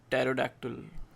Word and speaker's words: pterodactyl: There are names in which P is silent. Pterodactyl.